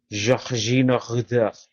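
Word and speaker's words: Georginio Rutter: If he's French, that means his name is pronounced Georgino Rutter.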